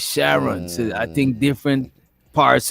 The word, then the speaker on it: Sharon: Her name is not Sharon. It's Sharon.